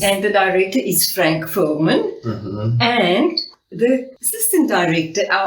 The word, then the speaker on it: Fuhrmann: Fuhrmann, yeah. Fuhrmann.